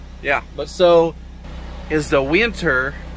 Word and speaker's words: Whyntr: But so is the winter. It's spelled WHYNTR.